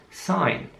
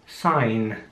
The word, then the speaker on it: sign: Sign. Das Wort wird mit einem G geschrieben, das wird aber überhaupt nicht ausgesprochen, also einfach nur S, I und N. Also einfach nur S, I und N. Sign.